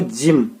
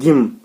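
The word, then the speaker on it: gym: यहाँ पे जी के लिए देखो जिम, ना कि गिम, ठीक है ना, इसको हम क्या पढ़ते हैं, जिम।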